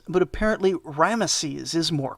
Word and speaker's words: Ramesses: and i should say i always heard it pronounced ramses but apparently ramesses is more correct anyway seti finished the job